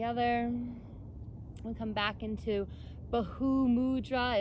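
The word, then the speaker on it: Bhu mudra: we come back into bahu mudra it's spelled b-h-u so bahu you pronounce the h to bahu mudra so it's like piece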